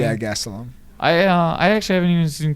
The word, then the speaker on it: Gastelum: Yeah, Gastelum.